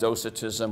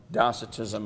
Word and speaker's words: docetism: that that heresy was called docitism or docetism I've heard it pronounced both ways so I'll cover my